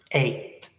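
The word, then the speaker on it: eight: This has a lot of letters, but the pronunciation is 8.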